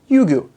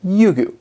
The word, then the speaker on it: Ryugu: December 3rd 2014 and sent it towards asteroid yugu that's how you pronounce it yugu now yugu is the Japanese word for Dragon